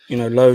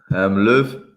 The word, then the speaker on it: Löw: Because Mats Hummel, is he made himself available, or was it just that Low didn't want him? Or so Löw. Oh, I'm with Mr. Parker. Your pronunciation was great, Gav.